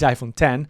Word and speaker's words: iPhone X: the iPhone 10 or iPhone x but the pronunciation is iPhone 10 and I remember being